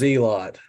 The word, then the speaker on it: Zealot: as Zealot or zelot is it zelot is that what he prefers he says zelot it's okay spelled like Zealot but it's spell Z he pronounces it zelot in any event um